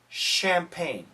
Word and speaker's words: champagne: that originate from France French words usually sound like an sh when spoken in English so catch no cash like the cash memory on your computer champag no champagne champagne it sounds like